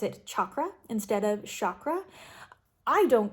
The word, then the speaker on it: chakra: So that is one of the reasons that I say chakra instead of chakra. Again, doesn't matter to me how you say it, but that is how I choose to say it, and that is why.